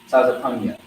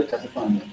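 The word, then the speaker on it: Tzefanyah: So yeah, that's how you say his name in Hebrew, Tazapanya. Okay? Yeah, Tazapanya.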